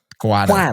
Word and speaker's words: Cuatto: Cuatto.